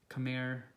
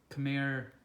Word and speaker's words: Khmer: wormer the king surya verma was part of khmer empire and this particular temple was later transformed